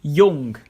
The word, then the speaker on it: jung: all or meaning him y this letter is almost always a y sound like Yung meaning Y and yah meaning yes if it's at the